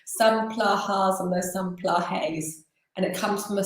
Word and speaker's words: Plahay: Oh, it's Plahay, but there are different Plahay. pronunciations. It's Beautiful. an Indian name, so some people Yeah. call it Plaha. It used to be without the Y, and then I think the British added the Y.